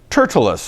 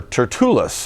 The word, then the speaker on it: Tertullus: and after five days ananias the high priest descended with the elders and with a certain orator named turtleus or tertullus i've heard it pronounced both ways so we might flip-flop